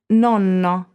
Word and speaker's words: nonno: pronounced twice or simply holding a consonant for a second beat you see can you feel the difference between these two words which is number seven or nono which is ninth and nonno grandfather note be careful